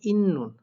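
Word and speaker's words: 있는: যায় নিউন হয়ে যায় সেই অনুযায়ী এখানে সাংস্কটা দন্তন্য হবে তাই এখানে উচ্চারণটা হবে ইন্নুন অর্থাৎ নিচেও দন্তন্য উপরেও দন্তন্য তাইলে কি হয় ইন্নুন তো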